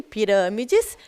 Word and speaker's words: pirâmides: E em pirâmides, a gente tem o acento circunflexo, o que deixa o som dessa palavra fechado.